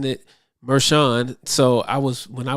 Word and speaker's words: Merchan: hearing it in the news and they was pronouncing it meran so I was when I was saying Merkin I'm like that's not how you pronounce that it's meran okay interview that Maran should shy away from